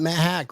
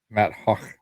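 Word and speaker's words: Matt Haack: Now we got Matt Hack, right? Matt Hack, who is the kid of Isaiah McKenzie. Hawk. Yeah, that's how it's pronounced. Matt Hawk.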